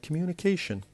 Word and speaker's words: communication: We then have the word communication. The word communication has 5 different syllables, and the stress is on the fourth, the one before the last, because we have ION.